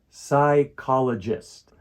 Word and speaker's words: psychologist: short lesson we're going to learn how to pronounce a tricky word psychologist a psychologist is a person who studies the